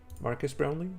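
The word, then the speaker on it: Marques Brownlee: Um, the other thing that I saw was the Marcus Brownley is how you say it, but uh, yeah,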